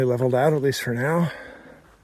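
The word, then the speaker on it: knowe: K N O W E is a Scottish word that shows up in place names meaning like a small hill.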